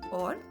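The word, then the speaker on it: ओ: Words starting with I are ainak, that is glasses, or ashwarya, that is prosperity. Then we come to O. O is pronounced as O as in the word go or so.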